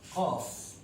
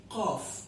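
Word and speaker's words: قاف: Qaf is called Qaf.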